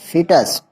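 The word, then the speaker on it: foetus: The words फ्यूटस इज the pronounced as फिटस, कह रहा है जो फ्यूटस होता है वो फिटस शब्द से ही क्या होता है, जो फ्यूटस है उसको हम प्रोनाउंस कैसे करते हैं, फिटस।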